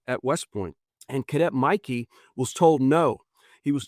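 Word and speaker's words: Michie: It looks like Mitchie, but it's pronounced Mikey.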